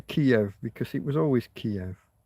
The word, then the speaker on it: Kiev: Now we've been told we have to say Kev and I don't I don't give a It's a Kiev. It's always been Kiev. It will always be Kiev.